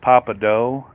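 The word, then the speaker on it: Pappadeaux: It's pronounced papadeaux.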